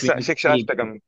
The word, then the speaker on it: Shikshashtakam: Like, you see, like, when you chant the, I forgot it, Prabhu, can you pronounce it for me? Shikishtakam. Like, what? Shikashtakam. Oh, yes. Shikshashtakam.